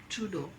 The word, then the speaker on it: Trudeau: I hope I'm pronouncing his name right. Justin Trudeau. 6.5 hours later. Trudeau होता है Justin Trudeau.